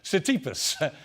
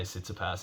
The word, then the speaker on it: Tsitsipas: Clash with Stefanos, I can't even pronounce his surname, Tsitsipas, which saw Kyrgios slap with another fine. Mate, you're supposedly a tennis fan. Your name is P-I-E-R-S, Pierce. Yeah, definitely learn to say Tsitsipas.